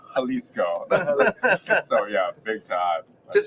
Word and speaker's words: Jalisco: believe it's like oh is it J that must be the way I've been saying it wrong saying it wrong is it it's not yeah it's halisco so yeah big time